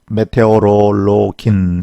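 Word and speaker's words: Meteorologin: 그래서 메테오롤로기 그런 사람을 메테오롤로게 메테오롤로긴 이렇게 발음을 합니다.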